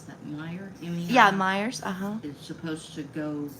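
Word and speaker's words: Meijer: Hearing that Walmart and I don't know how you pronounce that. Meer Yeah. Myers.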